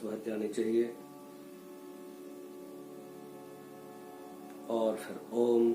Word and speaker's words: ओम: और फिर ओम का तीनों शब्दों का स्पष्ट उच्चारण, अ, ओ और म।